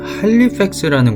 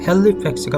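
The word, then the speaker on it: Halifax: 자, 이제 아까 지명으로 다시 넘어가서, 자, 할리팩스라는 곳이 있습니다. 할리팩스라고도 하고 헬리팩스라고도 하죠. 여기는 이게 문제네요. 아이냐. 자, 근데 일단은 오늘 A로 그냥 발음을 해버리면 헬리팩스가 맞죠.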